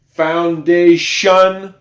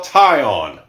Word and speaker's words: foundation: It makes the sound shun. Can you say it with me? Foundation. It doesn't look like shun at all. But that's what we have. That's what we have right there. Shun. Very, very important word right here. Foundation. That T-I-O-N does not spell tie-on. It does not spell tie-on or T-on. It spells shun.